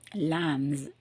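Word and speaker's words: lambs: அப்போ லேம், லேம்ஸ், லேம்ஸ். ஸோ அங்கே எஸ் போட்டால் கூட நான் சொல்லும்போது பாருங்கள் எஸ்ன்னு சொல்கிறேன், ஆனால் உச்சரிக்கும் போது ஸுன்னு சொல்கிறேன்.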